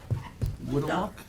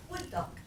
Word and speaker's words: Wood Duck: Woodlock? Wood duck. Wood duck. How do you say it? Wood duck. Wood duck. Like the bird.